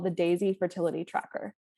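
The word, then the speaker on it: Daysy: i recommend all the time it's called the daisy fertility tracker it's spelled d-a-y-s-y and it's a basal bobby thermometer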